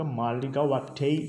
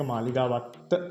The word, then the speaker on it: මාලිගාවත්ත: Maligawatta කියලා අපි කිව්වට මේක මාලිගාවත්තේ කියලා තමයි ඉංග්‍රීසි වලින් ප්‍රොනවුන්ස් කරද්දී සුද්දෙක් කිව්වොත් මාලිගාවත්තේ කියලා තමයි ඒක ප්‍රොනවුන්ස් කරන්නේ. අපි සිංහල නිසා අපිට ඒක මාලිගාවත්ත කියලා කියන්න පුළුවන්. but correct pronunciation මාලිගාවත්තේ.